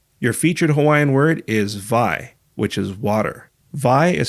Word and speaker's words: wai: Your featured Hawaiian word is vai, which is water. Vai is spelled W-A-I. In traditional Hawaiian, W's are pronounced as V's.